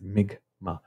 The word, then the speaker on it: Mi'kmaq: It's Mi'kmaq, with a G and not a K, even though it's spelled with a K.